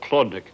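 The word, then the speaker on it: Chłodnik: most assuredly include a Polish beet soup called Chlodnik. That's spelled C-H-L-O-D-N-I-K.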